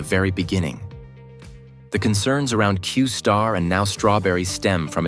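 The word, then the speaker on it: Q*: originally this model was known as Q asterisk pronounced qar within open AI this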